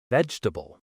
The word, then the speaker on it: vegetable: Word number two, vegetable. This one's similar. Learners often say veable all four parts, but native speakers say vegetable, shorter, smoother.